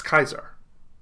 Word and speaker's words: Caesar: right instead of etc think of julius caesar instead of something like julius kaiser think of augustus instead